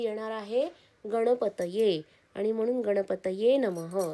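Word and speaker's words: गणपतये नमः: प्रयत्न करणं गरजेच आहे जसं की गणपतय नमः कोणी कोणी गणपती नमः म्हणतात पण तो उच्चार चुकीचा आहे कारण की गणपती हा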